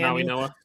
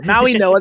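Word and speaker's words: Mauigoa: Maui Noah. There's I don't think there's an N in his name. Nonetheless, there's not, but that that there's a pronunciation of an N in his name by not not by me apparently.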